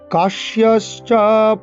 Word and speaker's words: কাশ্যশ্চ: কাশ্যশ্চ কয়াকার তালিব্য জফলা তালিব্য ছয় তালিব্য বর্ণ শয়ের উচ্চারণ করতে হবে।